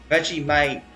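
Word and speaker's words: Vegemite: Veggie might veite. Oh, I see. It's actually pronounced veggie might.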